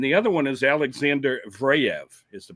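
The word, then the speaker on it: Zverev: And the other one is Alexander Vraev is the pronunciation.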